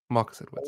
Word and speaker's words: Marcus Edwards: It's Marcus Edwards. Marcus Edwards. That's the one. Yeah. The Spurs player. Yeah, the ex-Spurs academy player that went to Sporting. To Sporting, isn't his name? Marcus Edwards. Marcus Edwards.